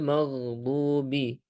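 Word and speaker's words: الْمَغْضُوبِ: Kemudian selanjutnya ghairi giri ya ghairil magdubi al gin. Maka huruf gin ketika sukun kita alirkan juga kita alirkan ya. Jadi giriril magdu magdubi ada sedikit aliran kita alirkan ee gain ketika sukun.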